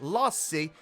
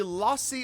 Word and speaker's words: Lassi: and 70s but in finland this is actually pronounced lost c and is a very common male name so the lossy or lassie whatever you want to call it